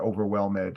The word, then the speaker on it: overwhelmed: be overwhelmed uh you you want to make sure you don't add in that second syllable there overwhelmed not overwhelmed it's very easy to make that mistake overwhelmed it means uh